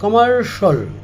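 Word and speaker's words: commercial: এটা হবে martial presidential আমরা বলে থাকি কমার্শিয়াল এটা হবে কমার্শাল ক্রিডেনশিয়াল বলি আমরা ক্রিডেনশিয়াল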